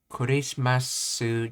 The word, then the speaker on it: クリスマス: Yeah, hardest thing with learning words that came from English or in Japanese is that you have a habit of pronouncing them the English way, and you have to train yourself to pronounce them the Japanese way.